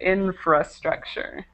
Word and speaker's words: infrastructure: okay It's Tricky but just make sure sure you get that R in there infrastructure okay um very good